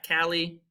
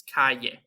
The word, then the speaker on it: calle: So it's not cali or cale, it's calle.